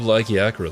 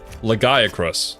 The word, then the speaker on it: Lagiacrus: Why does everybody love Lagiacra so much? No, why did I pronounce it like that? Lagiacrus. That's how you're supposed to say that.